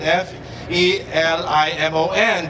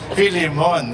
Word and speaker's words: Felimon: So I thought they were joking, but they spell it with an F. E-L-I-M-O-N, but they say Filimon, it's not Felimon.